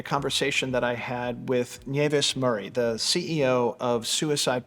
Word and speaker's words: Nieves: are Spanish migrants, and my name means snow, and it's pronounced Nieves, as you correctly say it. However, in Australia, it's been anglicised, and I get called all sorts of things, Tony, but mostly Nieves. However, my name is Nieves.